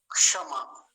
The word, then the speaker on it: क्षमा: बोलेंगे ना क्षमा बोलेंगे क्षमा हल्का सा क का उच्चारण बहुत हल्का सा आता है शुरू में फिर से सुनिए क्षमा ऐसे करके और मैं